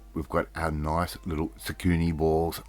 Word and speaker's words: Tsukune: We're going to now give a little bit of a brush with our sauce straight over the top of those Tsukune balls. Right? And zucchini is spelled T-S-U-K-U-N-E.